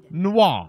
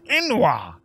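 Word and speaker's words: n'wah: If I have to deal with one more ignorant noir. What can I help? That's not how you pronounce that, woman. It's enoir.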